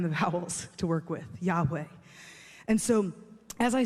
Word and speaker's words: Yahweh: language, we know that a closer pronunciation of this name is actually Yahweh. That's the closest we can come without having the vowels to work with, Yahweh.